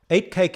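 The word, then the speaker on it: Uitkyk: bought eight cake Farm eight cake is spelled u-i-t-k-i-j-k in the Dutch Manor rather than the Afrikaans way back in 1997 an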